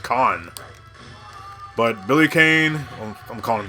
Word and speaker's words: Kane: called this character Billy Kane but if I hadn't played remembered potato free one I would have known that his name is pronounced last name pronounced con but Billy Kane I'm